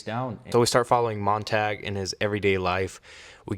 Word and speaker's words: Montag: and eat me alive I know I was saying his name wrong I was saying monang when it's monag monag my bad apologies if I'm still saying it wrong please correct me but I think it's mon tag my fault apologies moving